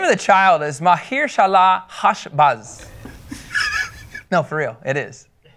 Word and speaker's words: Maher-shalal-hash-baz: Yeah, the name of the child is Mahir Shalah Hashbaz.